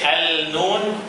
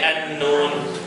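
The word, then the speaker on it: النون: Do we say al-noon or we say an-noon? An-noon? Who say an-noon? Who al-noon? Okay, it is an-noon. We don't pronounce the lam.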